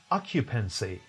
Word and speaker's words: occupancy: Is there any stress shift? No. It is pronounced occupancy. Occupancy in British and occupancy in American.